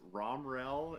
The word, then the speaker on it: Romriell: name starts with an r how do you pronounce that last name so it's rom rel is the the proper way to pronounce it